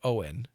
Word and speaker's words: Uwain: That's Uwain, if you wish to read it phonetically, but it would be pronounced today Owen. Like Owen Morgan, which is written Eoin, right? Owen. So that's why we pronounce it that way.